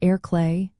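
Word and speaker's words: ar chlé: You can combine these with simple directional terms like ar clay, meaning on the left, pronounced air clay, and ar dihis, meaning on the right, pronounced air yes.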